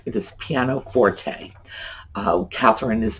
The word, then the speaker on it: pianoforte: Pianoforte. And that is how it is pronounced. It is not pianoforte, it is pianoforte.